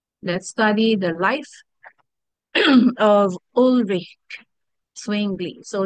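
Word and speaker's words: Ulrich Zwingli: study the life of ulrick swingle so it's a German pronunciation they say It's olic English or rich or rich and even English pronunciation says orich Okay so Who is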